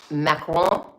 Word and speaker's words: Macron: Number one, like Macron, you don't pronounce the N unless it has an E at the end.